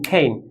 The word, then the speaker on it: cane: C sounds like খা খা খা খা খা এইন খেইন এইন। আমি বলেছি শেষে যদি ই থাকে ইটা উচ্চারণ হবে না, আর এটা যেহেতু লং সাউন্ডস কি এই এর মতো উচ্চারণ হবে এইন।